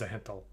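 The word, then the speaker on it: Zhentil: thanks thanks Julian really according to Ed Greenwood the Z and the H are pronounced separately so oh my God it is zahanthal oh crap I'll never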